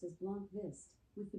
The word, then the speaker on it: Blomqvist: Luke Blomqvist. Blomqvist? Alexa, how do you pronounce Blomqvist? The pronunciation of B, L-O-N-Q-V-I-S-T, can vary depending on the context and the individual's accent. However, it is generally pronounced as Blomqvist, with the B and L sounds pronounced softly